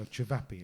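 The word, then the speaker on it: ćevapi: So Cevapi, it's spelled Cvapi, and that's the one thing you need to find if you go to Bosnia or any of the former Yugoslavia.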